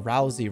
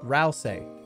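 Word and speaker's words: Ralsei: cook everything in a giant witches pot you're pronouncing Rousy wrong what is it give me it phenetically in the chat rley rosley Rousy r r re rail say Ral say Ral say of course cauldron cooking is very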